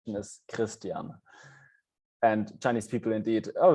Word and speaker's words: Christian: so there is an r involved the german pronunciation is christian and chinese people indeed oh you can wait